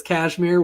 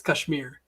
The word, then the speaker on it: Kashmir: to say it is cashmere which is totally fine but the the way we say it in india is kashmir oh kashmir kashmir yeah